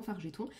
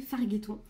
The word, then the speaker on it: Fargeton: de Manon Fargeton que je ne sais pas pourquoi j'ai toujours eu envie de prononcer Fargeton alors que elle est bien française, donc un G et un E chez moi ça se dit G. Voilà, jeu éventuellement, mais ça se lit pas gueux quoi.